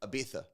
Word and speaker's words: Ibiza: Ibiza. Why? But I won't. That's how it's said there. I purposely won't say it like that, even though I know that it's supposed to be said like that, because I feel like people